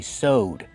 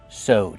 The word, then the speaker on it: sewed: In the past, we say sewed. We just have the D sound at the end. Sewed. You put ED, link the sounds.